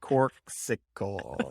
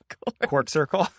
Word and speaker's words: Corksicle: my drinks yep um you're a corksicle is how you say it cork circle he always moves the letters around no easy tiger um yeah